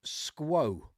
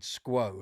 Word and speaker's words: SQOE: company's called You're probably wondering, "How do I pronounce that?" Okay, it's called Squo. I thought the guy, when I asked him in the shop, I said, "How do you pronounce this?" And he he said, "Squo."